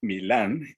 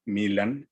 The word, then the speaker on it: Milan: autor checo milan kundera es decir acentuando su nombre como si fuera una palabra aguda milán y copia de su apellido como si fuera una y lo pronuncian en su propio país y acentuar el nombre como si fuera grave milán y el apellido como si fuera estructura desde una palabra esdrújula kundera entonces en vez de